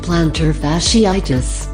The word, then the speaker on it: plantar fasciitis: Plantar fasciitis, pronounced plantar fasciitis, is an inflammation of the flat muscle tissue that connects your heel to your toes.